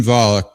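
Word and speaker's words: Volokh: So, I mentioned the Volic conspirac is his name pronounced Volik. Am I saying it? Eugene Eugene Volik.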